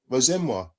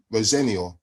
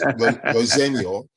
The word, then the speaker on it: Rosenior: I even had an argument with a fan once who said, "Oh, your name's Rosenmoir." I went, "No, no, it's Rosenor." He went, "No, it's Rosen. It means it's French. It's black rose." I went, "Well, it is my name and it is Rosenoro and it's actually Dutch and my our full